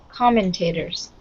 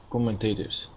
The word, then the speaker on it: commentators: can you repeat that commentators commentators so the stress here is on the first syllable oh no that's not